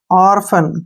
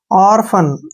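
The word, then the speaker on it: orphan: और ठीक है ना पी एच का उच्चारण फ हो गया और ए का उच्चारण आ की मात्रा और एन से न ऑर्फन क्या पढ़ेंगे इसको ऑर्फन ऑर्फन मीन क्या होता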